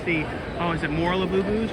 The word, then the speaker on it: Labubu: It's now the Squish have been taken over by the Labubus. Or you're supposed to say it like Labubu, like that, but this